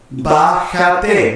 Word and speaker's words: Bájate: Bájate. Once again, three syllables.